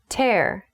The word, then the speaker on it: tear: Tear. The next word is tear. Tear. Be careful. This word is spelled T-E-A-R. It looks like tear, but used as a verb, it is tear.